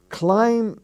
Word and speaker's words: climb: were bombing the town the word climb the b is not sounded but climb he climbed the bee is not sounded either climbing the bee is